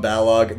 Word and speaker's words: Balog: see in the chat tom Balog is that how you say it yeah yeah Tom Balog that is Tom cash